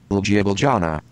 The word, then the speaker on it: Ljubljana: Let me search for the correct pronunciation. Okay, one moment. Ljubljana.